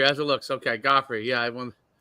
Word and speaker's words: Guifre: do I say uh uh gofy you say goffy as it looks okay goffy yeah I want it's pronounced like the uh the who was it